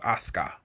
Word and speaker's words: Asuka: If we try to pronounce things phonetically, like Asuka, it's actually just pronounced Asuka because the U is silent.